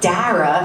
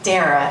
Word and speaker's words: Dara: And then I realized, okay, it's not Dara because it rhymes with S-A-R-A. That's Sarah. In New York, we say Sarah. So my name is Dara if you're from California, and it's Dara if you're from New York.